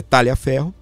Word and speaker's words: Tagliaferro: Primeiro, Talha Ferro ou Tagle Ferro, né? Diz que a pronúncia correta é Talia Ferro.